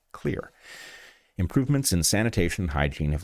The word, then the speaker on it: Xlear: It's Xlear, that's X-L-E-A-R pronounced "Clear."